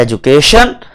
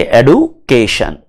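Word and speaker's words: education: British English के अंदर हम कहते हैं एजुकेशन, अमेरिकन इंग्लिश में हम कहेंगे एडुकेशन।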